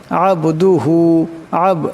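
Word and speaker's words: عبده: মুহাম্মাদান আবদুহু এখানে আইন আসছে।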